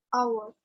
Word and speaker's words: hour: Ini bacanya apa? Hour. Hour. Bacanya cuma hour. Jadi sebenarnya yang dibaca cuma belakangnya aja. Ini adalah silent letter.